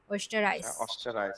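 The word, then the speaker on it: Österreich: ইশ কমে আউস অস্টারাইশ, আই উচ্চারণ হবে এই পাশাপাশি একসাথে থাকলে, অস্টারাইশ।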